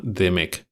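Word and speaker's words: DMEK: y luego también está otra que se llama Demec, que se escribe d m E k.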